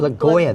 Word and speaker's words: Blagojevich: Rob Blagojevich. Blagojevich. Rob Blagojevich. Okay, Ron pronounced it.